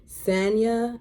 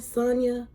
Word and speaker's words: Sanya: we then see uh always say her name wrong Sanya is her name Sanya Sonya Sonya Sonia and her sister they